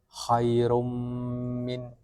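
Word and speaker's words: خَيْرٌ مِنْ: Terus khairun min dibaca khairum min. Oke. Mim dengan guna yang dipanjangkan.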